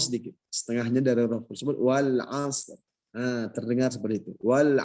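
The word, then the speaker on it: والعصر: Jadi kita baca wal as, ada ro-nya sedikit, setengahnya dari huruf tersebut wal asr.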